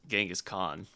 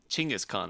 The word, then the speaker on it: Chinggis Khaan: the bacteria who killed Genghis Khan Chinggis Khaan I think is how it's supposed to be pronounced but genghis is how everybody knows it but if I were